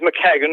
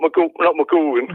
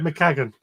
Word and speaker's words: McCagan: I'm phoning up to say, just to let you know, the name's McCagan, not McGorgan. Right, McCagan.